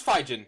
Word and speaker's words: Phijin: This is Phijin, and I know it's pronounced like that because I made an annotation on how to pronounce it when I made it.